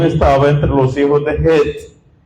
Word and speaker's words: Het: Digo Het porque en hebreo es con Het o con J española. Por eso pronuncio Het. En español dice Et, pero es mala traducción. En hebreo es con Het, que equivale a la J española. Por eso digo Het.